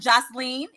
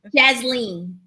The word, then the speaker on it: Jasleen: so we have now I'm saying Joceline is that how you pronounce her name first Lisa Jasleen jazzleen okay Jasleen Simmons and we